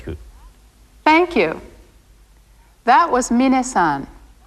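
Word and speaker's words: みなさん: thank you that was minna-san be sure to pronounce his name minute not mine next see her this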